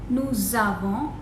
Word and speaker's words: nous avons: Here we have the sound as nous avons, liaison is made.